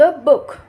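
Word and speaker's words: Buch: बुक को बोलते हैं बुक, CH। अगर CH के पहले वॉवल आता है तो हम उसे ख प्रोनाउंस करते हैं।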